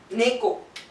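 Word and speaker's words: ね: And this one is the letter associated with cat, Neko. This pronunciation is Ne.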